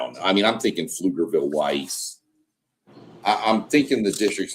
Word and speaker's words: Pflugerville: Yeah, people that don't understand, Pflugerville is spelled PF. I gotta go back. Yeah. Pflugerville. Pflugerville. So the P is not there, but it's there when you write it.